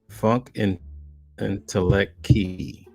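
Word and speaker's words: Funkentelechy: Funk Intellect Key is how it's pronounced.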